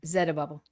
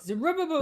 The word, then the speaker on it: Zerubbabel: Zerubbabel, Zerubbabel. yeah, that's good. King I like it Zerubbabel. too. Yeah, most people say Zerubbabel, Zeru- but Zerubbabel.